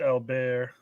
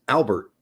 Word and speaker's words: Albert: uh scientist yeah but his name wasn't pronounced Al bear no it was not alar that was not his last name but in France if your last name is alar it's pronounced alar it's just how it is if you're in America it's Albert okay 50 minutes in we're